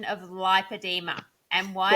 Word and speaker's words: lipoedema: the same thing but we feel that the pronunciation needs to be lipedema in Australia because if you say lipidemia it's too similar to lymphadema but it's also too similar to lipidemia which is a a blood condition that I In fairness